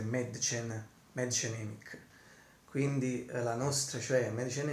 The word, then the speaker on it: Mädchen Amick: Ho appena letto anche la pronuncia precisa in tedesco e a quanto pare prima dicevo Madchen, Medgen, ma adesso l'ho letta bene, diciamo dovrebbe essere Madchen Emick.